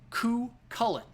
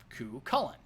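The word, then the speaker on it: Cú Chulainn: say the name as ku kullen ku cullen pretty simple right others say who cullen putting a lot of emphasis on an h let's be honest the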